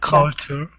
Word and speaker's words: culture: english is culture so we have an uh sound culture culture yeah that's better and then this one